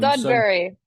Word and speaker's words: Sudbury: Am I pronouncing the town name correctly? Or not. So Please correct me. so Sudbury, Sud, Sudbury.